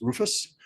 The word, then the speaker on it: RRFS: In the government, we pronounce every acronym, so that's Rufus.